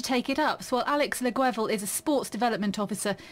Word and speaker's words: Guevel: I hope I pronounced your surname correctly. Near enough. Lovely. So, Close. Yeah, that's all good.